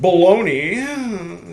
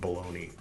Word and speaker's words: Bologna: At Bologna, spelled like baloney, 1820, was printed I just happened to choose this finger I'm not flipping off Bologna or Bologna or however the hell.